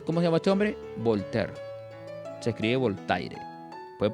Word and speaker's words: Voltaire: este hombre se llamó se escribe voltaire lo puedes producir como voltear o voltear se voltear fue un